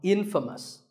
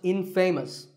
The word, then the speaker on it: infamous: you might just become infamous this word is the opposite of famous and it means famous for something bad but it's not pronounced in famous it's pronounced infamous all right I hope